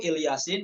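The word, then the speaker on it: إل ياسين: Ala Ibrahim, ya, pada ikhtibar, pada momen ikhtibari ketika dites bacanya itu Ilyasin hamzahnya dibaca kasroh. Nggak boleh wakaf pada kata il, kayak gitu doang.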